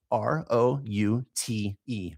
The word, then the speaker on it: route: Google Maps and it gives me the route, r o u t e, route.